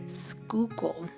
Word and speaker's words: Schuylkill: way, I definitely had to Google how to pronounce while writing this script. Schuylkill.